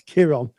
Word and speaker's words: Chiron: Spel it's spelled with a K, but it's pronounced it's spelled with a C, sorry, but it's pronounced with a K. It's Kiron.